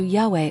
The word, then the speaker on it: Yahweh: The most accepted form among scholars is something close to Yahweh or Jahve in Portuguese.